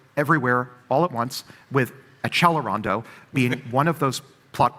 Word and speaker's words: accelerando: I can't tell a how many people love to write and say you're mispronouncing accelerando. You have to pronounce it in the right Italian way which is achelondo.